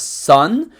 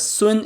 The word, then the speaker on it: Sun: By the way, most players pronounce his name as Sun, but it's actually pronounced as Sun in Chinese.